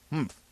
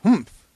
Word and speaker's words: humph: "Humph," said the sand fairy. If you are reading this story aloud, please pronounce humph exactly as it is spelt, for that is how he said it.